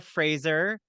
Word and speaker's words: Fraser: My grandparents, I don't know, somehow it morphed into Fraser, but it is actually pronounced Fraser. It's like Brendan Fraser, who I have to go and do a genealogy, like a 21 me.